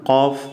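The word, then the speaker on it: ق: ഈ അക്ഷരത്തിൻ്റെ ഉച്ചാരണം കോഫ് എന്നാണ്, കോഫ്. ഇംഗ്ലീഷ് എഴുതുകയാണെങ്കിൽ ക്യൂ യു എ എഫ്, കോഫ്. നമ്മൾ തൊണ്ട കൊണ്ടാണ് ഉച്ചരിക്കുന്നത്, കോഫ്.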